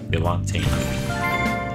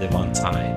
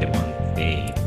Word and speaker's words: Devonte: You see, I pronounced it right this time. Devonte. Not Devontae. Devonte.